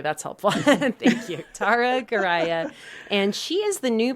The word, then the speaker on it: Goraya: and last name is gah I always tell folks it's like Mariah but with a G nice okay that's helpful thank you Tara gah and she is the